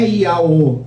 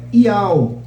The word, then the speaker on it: IAO: Não é Iaô, é Iao, por exemplo. Estou dando outro exemplo, né? Aí tem gente que vai ler lá. Iaô. Não é Iaô, é Iao.